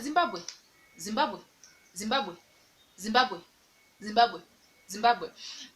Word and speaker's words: Zimbabwe: you're saying the word like zimbabwe just said zimbabwe zimbabwe zimbabwe zimbabwe zimbabwe zimbabwe uh for example